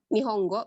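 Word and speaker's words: 日本語: Contohnya ini Nihongo bacanya. Kalau tulisan kanji ini seperti ini. Ini kanji matahari, kanji pohon, kanji bahasa gitu. Tapi kalau dijadiin satu, ini artinya bahasa Jepang. Itu Nihong Jepang, go bahasa Nihongo.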